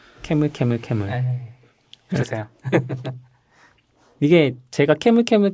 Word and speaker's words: camelcamelcamel: 어차피 한 이 20분 캐물 캐물 캐물이라고 읽어야 되는 거잖아요. 네. 캐물 캐물 캐물.